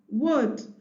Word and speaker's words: would: u l d should would w o d would w o u l d wood remember to tell the child that letter L in those three words is silent so they are not articulated C W should as